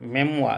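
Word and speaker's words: memoir: मेमुआ, इसका उच्चारण देखिए थोड़ा टिपिकल है, मेमुआ इसको पढ़ते हैं।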